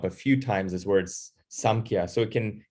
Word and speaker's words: Samkhya: So it's in the book, it's spelled with an M, but it can also, the way Sanskrit is written, it can also, you'll also see it written with an N as well.